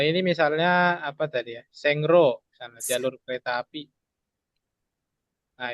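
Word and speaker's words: 線路: Tulisnya Sengro.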